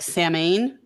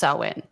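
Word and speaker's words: Samhain: it's spelled s-a-m-h-a-i-n so people will pronounce it like salmon but it's actually pronounced sauwin it's Owen got it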